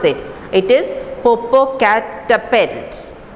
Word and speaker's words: Popocatepetl: So she is coming and telling the boy, I know how to pronounce it. It is Popocatepetl. Popocatepetl, said George, stopping at each syllable, stopping at each words, each letter.